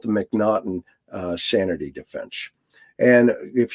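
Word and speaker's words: M'Naghten: or the mcnaughton defense i call it the mcnaughty but it's the mcnaughton it's how it's pronounced is actually the first you know game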